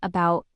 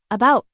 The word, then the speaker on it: about: When you say about, it's not about, it's about.